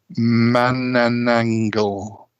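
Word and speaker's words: Manananggal: last one is from the Philippines it's uh man and angle sounds like somebody's making these up and not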